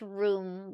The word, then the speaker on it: rheum: It's pronounced room, but like the way it's spelled is similar to like rheum.